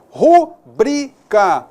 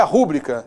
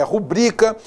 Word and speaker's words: rubrica: E cuidado, que essa palavra aqui é rubrica, como nós comentamos, é rubrica, não é rúbrica, é rubrica, recorde, rubrica, cuidado, beleza?